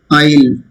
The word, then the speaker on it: isle: Isle. Island can be pronounced shortened as isle. Here also S is silent.